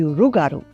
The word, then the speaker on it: rougarou: (loup-garou) here is sometimes the legend of the rougarou. Yes, we have a lot of werewolf legends in Louisiana. There is even a festival in Houma called Rougarou Fest. Yeah, OK, that's true, "rougarou" (with an R) is more customary in eastern Louisiana.